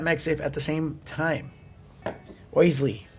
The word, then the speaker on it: Oisle: Oisle. That's how they pronounce it. But it's just OISLE.